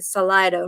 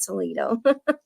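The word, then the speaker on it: Salida: visit visit salido probably I keep mispronouncing it I think salido not solo um and go and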